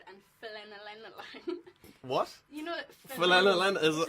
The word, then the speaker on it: phenylalanine: You know, Phenylalanine is it? Phenylalanine. Read the last thing there. Phenylalanine. That's how you say it.